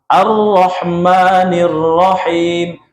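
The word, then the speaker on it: الرَّحْمٰنِ الرَّحِيمِ: Kemudian Alhamdulillahi Rabbil Alamin Ar-Rahmanir-Rahim. Tasdidnya diperhatikan ya. Kalau tidak ditasdid berarti keliru nanti.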